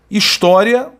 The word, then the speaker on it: história: História, palavra paroxítona terminada em ditongo crescente. Divisão silábica foi feita, sílaba tônica é tó, né?